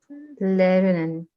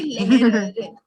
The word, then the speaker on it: lernen: Lernen. Can you repeat? Lernen. Lernen. Okay, you will say leher. No, it is not that. Leher wala leher nahi aana chahiye. It is leher. Lernen.